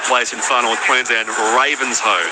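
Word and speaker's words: Ravenshoe: in final plans and Ravens Ho, not Raven shoe. Ravens don't wear shoes, so I can imagine that would be a Thank you, Peter who says, "Great call."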